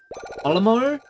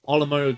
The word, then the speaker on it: Olimar: Olimar is Mario backwards.